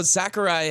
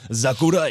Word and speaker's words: Sakurai: So Sakurai has come out publicly on Twitter and said that he has been working on the game in silence for a very long time. It's pronounced Zachary. Zachary. Sakurai.